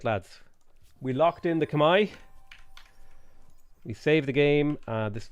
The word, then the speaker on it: Khmer: is that how khmer is pronounced yes it's pronounced kamai at least that's what i was told by people in my chat um multiple multiple multiple multiple times is that it's kamai stream needs more rabbit she's fine she's just